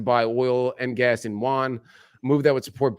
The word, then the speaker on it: yuan: It should be with a J. Yeah. Juan. So President Xi told Gulf Arab leaders on Friday that China would work to buy oil and gas in yuan, a move that would